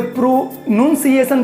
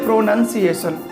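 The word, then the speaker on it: pronunciation: कोई प्रोनाउंसिएशन पढ़ता है, कोई प्रोनुंसिएशन पढ़ता है ना, लेकिन करेक्ट जो इसका जो करेक्ट इसका एक्सेंट है, जो करेक्ट इसका साउंड है, वो यही है प्रोनाउंसिएशन, ठीक है।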